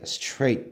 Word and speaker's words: straight: 자, GH는 장식이야. GH는 장식이니까 발음해야 하네요? 안 해요. T는 무슨 발음? 티귿. 그래서 어떻게? straight 되는 거예요.